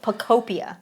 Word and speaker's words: Pokopia: Pokemon Pokopia. Okay, I did not pronounce it that way in my head. Pokopia, I think like, is how you say it. Pokopedia? No, Pokopia.